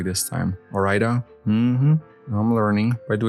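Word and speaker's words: Ore-Ida: See, I pronounced that correctly this time. Orida.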